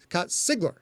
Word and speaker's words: Sigler: So like Scott, capital S-I-G, Sig, lowercase l, Sigler.